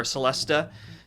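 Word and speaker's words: Celesta: It's called the Celeste or Celestea depending on on how you pronounce it.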